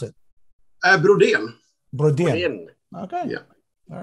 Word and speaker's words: Brodén: How do you pronounce it? Brodén.